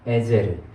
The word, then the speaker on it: 에셀: 에셀은 발음이 원래는 본 발음은 에젤르입니다. 에젤르.